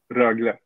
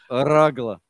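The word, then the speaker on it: Rögle: Rogel, how do you pronounce it? Rogle. Yeah, go for it. It's the R. How do you pronounce the R? Rogle.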